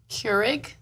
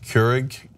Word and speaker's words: Keurig: What, am I saying it wrong? Keurig? What am it's I? Like I'm saying cure an egg, I think. Keurig. Keurig.